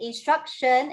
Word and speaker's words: instruction: We must be very, very careful. Okay, you don't read instruct here. Okay, it's because the sound has been changed to a sh. Okay, and instruction actually means the act of instructing.